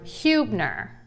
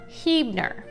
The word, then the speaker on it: Huebner: or see this word, you are likely to say the word Huebner and focus on the hue of the word, but it's actually pronounced Hebner for the locals.